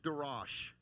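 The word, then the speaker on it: דרש: And he says Darosh, Darash. They pronounce the second one a little bit different, but it's the same word twice.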